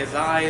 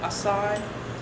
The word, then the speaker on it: Azai: Nagamasa, Asai, Azai. It's some scholars say Azai is more correct. Others say Asai.